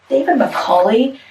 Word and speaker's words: Macaulay: In it, we did a picture book by David Macaulay. That's how you pronounce his name.